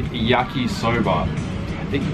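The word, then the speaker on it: 焼きそば: It's called yakisoba, yakisoba? That doesn't sound right. I probably just did I just butcher the pronunciation?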